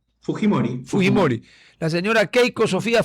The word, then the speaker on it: Fujimori: Roberto Helbert Sánchez Palomino tiene 9,5493 y doña Keiko Sofía, perdón, es Fujimori o Fujimori, ¿cómo pronuncian ustedes en Perú? De hecho, Fujimori.